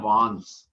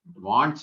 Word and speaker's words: wands: तीसरे सेट का नाम रखा वान, इसकी स्पेलिंग होती है WANDS, लेकिन इसको प्रोनाउंस किया जाता है, डी साइलेंट रहता है इसमें। इसको बोलते हैं वांस, वांस, वांट्स नहीं बोलेंगे इसको, वांस बोलेंगे।